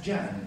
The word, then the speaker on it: can: is considered as J it is pronounced as J in Turkish so see can in Arabic is pronounced as Jan with which has the